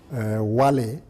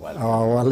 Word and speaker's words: Wale: Wale, as the Americans would pronounce it, Wale. It's actually Wale. Yes, it's spelled double-L-Y, but it's Wale, our own Wale, dear Wale.